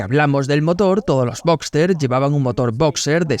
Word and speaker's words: Boxster: ya que mucha gente olvidaban la S de Robster y lo escribe como Boxter, que es como se pronuncia, pero el nombre correcto lleva esa S porque viene de Robster, el modelo básico del Boxter.